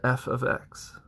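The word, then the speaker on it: f(x): function of X is X minus 2 you pronounce that say the f of X you'll see this a lot moving into especially high school level algebra you'll call it f of X equals X minus 2 in this case f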